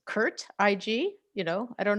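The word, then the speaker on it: CIRT: you pronounce it well i went back and forth about whether it was going to be curt or curl if we were going to use like teaching or learning but i've decided uh teaching fits better so it's kurt ig you know i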